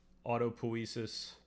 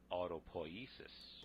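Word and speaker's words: autopoiesis: Also just to point out this is like neuroplasticity falls within autopoesis. Am I pronouncing that correctly?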